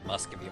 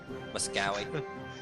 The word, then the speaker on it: Muscovy: I'm trying to improve my relationships with Muscovy right now, though. Muscowy. It's V. There's a V in it now.